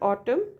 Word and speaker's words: autumn: in Autumn Sly slipy n in Autumn right no sound of n however we put n